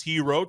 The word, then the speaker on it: Herro: unexpected, like adding Miles Hero to the Buckeyes 2025 recruiting class. And yes, when you hear that name Hero, it is spelled with two Rs because he is the brother of Tyler Hero.